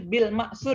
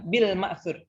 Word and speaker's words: bil-ma'tsur: yang ketiga otopsi prematur ya bacanya PSIR Bil matsur ya jangan dia Kita ya Bil maksud karena kita al-qurannya orang